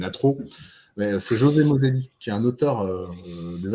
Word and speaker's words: Moselli: C'est José Moselli, donc comme ça se prononce, ça écrit comme ça se prononce.